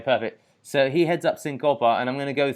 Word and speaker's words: Cincope: go he ends up is it do i pronounce it chincopa or syncopa okay perfect so he heads up syncopa and i'm going to go through the the